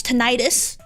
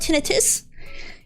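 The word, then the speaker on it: tinnitus: It's tonitis. No, it's it's pronounced tinitus.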